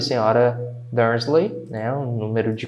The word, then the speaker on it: Dursley: Dursley. Quando eu falo, tá? Termino com esse Y aqui, não é lei, tá? É li. Então, por exemplo, o Mickey, na verdade, pronuncia-se Mickey.